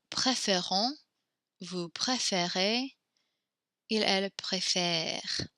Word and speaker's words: préfère: So note the way we pronounce this E when it changes its accent, we kind of smile when we say it, préfère, préfère. We keep our mouth unsmiling when we pronounce nous préférons, vous préférez.